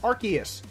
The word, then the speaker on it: Arceus: special one I was referring to the correct pronunciation is Arceus so out of all of the pronunciations you've